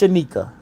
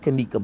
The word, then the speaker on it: Shanika: Why did I say Kanika? It's Shanika. So maybe somebody wrote Kanika, but it's Shanika.